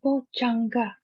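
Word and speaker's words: bojjhaṅga: Satta Bojanga. This one we have to pronounce properly. J. Actually, this is a very famous term because you know the word even jhana, right? See, jhana. See, J. All right.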